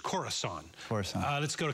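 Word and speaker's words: Khorasan: Mar by the way I mispronounced the name of that group it's corasan cor uh let's go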